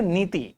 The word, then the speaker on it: NITI: But this is something which can be pronounced as a word. Just say niti.